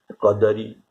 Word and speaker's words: कदरी: ये भोजपुरी भाषा में ल को र उच्चारण किया जाता है। जैसे जारेऊ कपि लंका, हनुमान जी लंका जाड़ेऊ, इसे र के जगह र लिखा गया है। ऐसे तो कदली जब उच्चारण किया जाएगा तब कैसे उच्चारण किया जाएगा? कदरी। फलना तो फरना, इसीलिए यहां